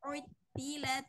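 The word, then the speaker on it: عُطِّلَتْ: keempat di sini tadi Ibu kurang tasydidnya kurang gitu ya. Maksudnya teh Yang belum kelihatan kalau dia itu hurufnya bertasydid. Di sini kan ada wa idal aisyaru utilat. Jadi oh, dari ain dimasukkan ke to.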